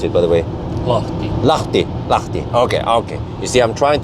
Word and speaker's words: Lahti: Well, how do you pronounce it, by the way? Lahti.